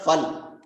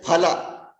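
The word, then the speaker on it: फल: So in Sanskritam, it is not fal. Hindi mein fal hota hai na. It is not fal. It is phala.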